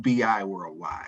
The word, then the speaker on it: BI Worldwide: And I must say, even though we're in the bi-state region, our company is pronounced BI Worldwide.